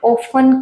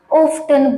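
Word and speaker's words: often: जैसे मैं इसका एग्जांपल दूं, अगर आप बर्थडे को बर्थडे ऐसे बोल रहे हैं तो ऑफन को आप ऑफ्टन बोल रहे हैं तो आपके प्रोनाउंसिएशन में मार्क्स कट सकती हैं।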